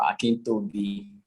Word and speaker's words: Akintobi: So, could you pronounce it for me? Oh, okay. Akintayo, Akintobi.